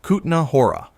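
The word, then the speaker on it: Kutná Hora: Number nine, Kahora, Czech Republic. Pronounced Knahora. 60 kilometers east of Prague sits a UNESCO World Heritage village built directly on top of a silver mine.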